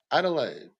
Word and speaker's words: Adelaide: Australia say ment Red Bull ment ment three syllables mil e yeah but what's the main town in South Australia Adelaide yeah I told you it's like three four